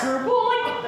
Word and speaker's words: Schroeppel: They're like, that's pronounced Schroeppel?